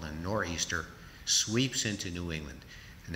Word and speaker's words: nor'easter: England on or Easter which is a corrupt English pronunciation for northeastern a northeastern storm called a nor'easter sweeps into New England